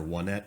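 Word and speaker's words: Onett: And the first town that you play is called Onet or Onet, depending on how you want to pronounce it.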